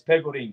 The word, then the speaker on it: Pegorin: Is it PEGORIN? Is that how you say it? PEGORIN? It's PEGORIN. It's Italian.